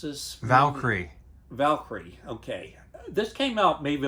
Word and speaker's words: Valkyrie: would recommend this movie chris how do you pronounce this valkyrie valkyrie okay this came out maybe about eight years